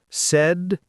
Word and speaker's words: sedentary: Pronunciation tip. Sedentary is said as sedentary. It means sitting most of the time. Said and terry.